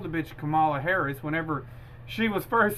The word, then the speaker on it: Kamala: So I meant, you know, whenever, you know, Trump got in and started calling her Kamala, it's Kamala. It's Kamala.